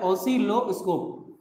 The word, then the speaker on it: oscilloscope: तो देखिए ओसी, ठीक है, ये एस साइलेंट हो जाता है, ऑसिलोस्कोप, ठीक है, एस साइलेंट है तो इसका नाम आता है ऑसिलोस्कोप।